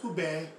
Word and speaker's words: ube: UBE, pronounced UBE, is a purple yam from the Philippines with a mild sweet flavor.